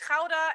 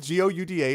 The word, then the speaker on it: Gouda: It's spelled Gouda. It's Gouda because it's good. It's good. It's good. Yeah, well, that's like how you pronounce the G in Dutch in most cases.